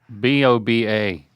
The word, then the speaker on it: boba: B O B A. I can't even pronounce that.